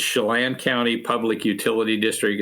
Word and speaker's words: Chelan: turn to your work at i hope i pronounced this right chilin county public utility district could you first tell our audience they may not know where chilean county is so could you tell us geographically